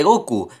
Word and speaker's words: Goku: celebra el Día de Goku que conmemora el aniversario de la emisión del primer episodio de Dragon Ball en 198 la fecha 5 del 9 se pronuncia Goku en japonés la apariencia y diseño